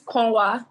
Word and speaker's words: Konwa: It's Konwa, like include us, Konwa.